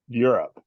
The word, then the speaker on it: Europe: Europe. Europe? All right. Like YURIP. Okay. Also Still the pronounced north.